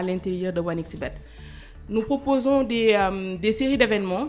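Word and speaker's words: 1xBet: c'est pas OneXBet. Non, c'est OneXBet. Bien, d'accord. Bet en anglais comme le betting.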